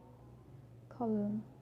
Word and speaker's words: column: And then it's important because when I explain the silent letter N, it's actually silent, and when the letter N next to M, for example, damn, damn, autumn, autumn, him, him, column, column. Yeah, so that's for letter N.